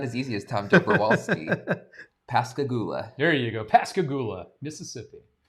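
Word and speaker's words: Pascagoula: uh pronounced the first place. It's not as easy as Tom Joberwalsski. Pasigula.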